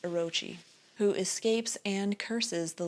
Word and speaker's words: Orochi: Nagi's legend and frees Orachi. I think that's supposed to be pronounced Orochi, who escapes and curses the lands, sapping the life from Nepon.